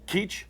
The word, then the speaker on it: Keech: Keech. Keech. Oh, Okay. It's been pronounced a number of ways, you can imagine.